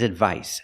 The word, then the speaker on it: advice: And the second word is advice. The c makes the s sound like in star and sun.